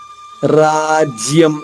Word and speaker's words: రాజ్యం: రాజ్యం రా దీర్ఘంగా పలికిన తర్వాత ఆగా తీసుకుంటూ జ్య లోని మొదటి అక్షరం జాద్విత్వం చేసుకుంటూ నచరాజ్యం ఇక్కడ అనుస్వర ఉచ్చారణమ ఇక్కడ మాత్రం